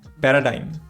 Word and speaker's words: paradigm: Next जो word है वो है paradigm ना, इसका correct pronunciation है paradigm. Paradigm. Paradigm. Paradigm. जो G है वो silent है इसमें.